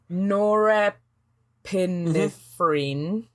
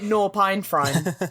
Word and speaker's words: norepinephrine: I know I say it wrong because it's how I spell it. Norepinephrine. Norepinephrine. That one. Yeah. I spell it norpinephrine. So right. Norpinephrine.